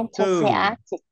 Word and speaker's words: enthusiastic: cái âm đó, cho nên từ này mình đọc là into enthusiastic enthusiastic, enthusiastic, enthusiastic, enthusiastic enthusiastic.